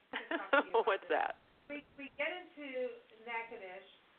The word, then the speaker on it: Natchitoches: We're here in Natchitoches, Louisiana, and look, we have to say Natchitoches. It's not Natchitoches as it looks when you spell it out. It's Natchitoches, and then there's all the French.